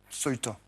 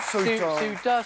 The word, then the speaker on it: Ceuta: Ceuta. Oui, exactement, oui. La prononciation, oui. Je pense qu'on dit... Ceuta. Ceuta, Ceuta, C-E-U-T-A, en arabe.